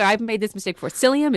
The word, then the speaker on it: psyllium: Yeah, yeah, and just to be clear, I've made this mistake before, psyllium is spelled with a P, P S, it's psychology, you know, so it's not selenium or something like that.